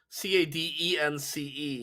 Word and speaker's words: Cadance: they spell her name c-a-d-e-n-c-e yeah yeah but yeah her name is pronounced cadence i don't know yeah